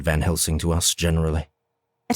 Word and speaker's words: Van Helsing: or van helsing's name she's been pronouncing it with a z i do not know jeff may end up making the decision that it's perfectly fine sometimes people do pronounce s's as z's but that's not typically the way his name has been pronounced so i'm marking it